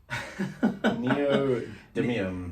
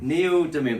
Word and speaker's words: neodymium: Neodymium. Neodymium. There's all kinds of speaker nerds out there going now like, oh, they don't know how to say neodymium. Whatever it is, neodymium speaker for sparkle and clarity.